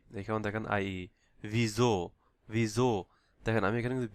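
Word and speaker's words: wieso: এখানে দেখেন ভিজো, ভিজো। দেখেন আমি এখানে কিন্তু ভিসো বলি নাই। এখানে এস এর উচ্চারণ, এস এর পরে যদি কোনো ভাওয়াল থাকে তাহলে এই এস এর উচ্চারণ এস না হয়ে ঝ হবে, ঝ উচ্চারণ হবে, লাইক ভিজো, ভিজো।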